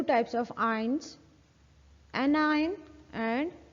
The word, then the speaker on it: anion: इसकी प्रोनाउंसिएशन देख लें, ION की प्रोनाउंसिएशन तो आयन ही होती है। ठीक है। और AN की हो जाएगी एन और CAT कैट। ठीक है। सो pronunciation will be एनायन एंड कैटायन।